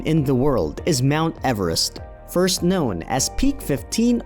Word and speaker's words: Everest: 1830 to 1843, and who, in fact, pronounced his name as Everest, as opposed to Everest.